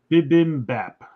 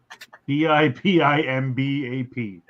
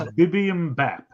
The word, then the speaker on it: Bibimbap: It's Bibimbap. Bipimbap. I'm just watching the movie and you're over here saying like every combination of... Yeah. I'm like, what is going on? It's Bibimbap. That's how you say it.